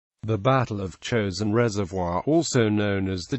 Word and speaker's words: Chosin: in the Korean War chosen is the Japanese pronunciation of the Korean name Chang Jin the UN forces relied